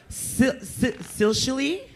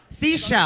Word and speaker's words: Seychelle: Bambi Banks Kool-Aid, Crimson, Silshily? What is it? Silshily? How do you say that? Wait, how do you say Seychelle? it? Seashell. Seashell.